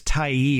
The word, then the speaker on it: Tyee: And that variety again is Tai, which is spelled Tyee.